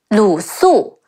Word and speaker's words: Lu Su: Anyways, there is also Ding Feng, De Ying Ding Feng, Feng, Ding Feng, and Lu Su, Le Wu Lu, Si Wu Su.